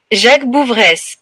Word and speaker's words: Jacques Bouveresse: It is pronounced Jacques Bouveresse.